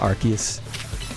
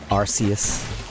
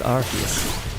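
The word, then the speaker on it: Arceus: And it is pronounced Archus. I know some people they go with the Arus, but it is Archus.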